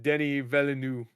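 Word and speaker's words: Denis Villeneuve: He mispronounced Denny Villeneuve name because he got nominated for. He said Oh, Dennis. yeah. Yeah. Yeah, he said Dennis.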